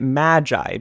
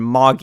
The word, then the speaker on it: Magi: And yes, I'm going to be pronouncing it Magi, because I like that pronunciation more than Magi, even though that's what they say in the show. It just makes more sense to me considering magician, Magi, just my 2 cents.